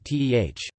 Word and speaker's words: teh: Most Chinese languages, such as Mandarin and Cantonese, pronounce it along the lines of cha, but Hokkien and Teochew Chinese varieties along the southern coast of China pronounce it like teh.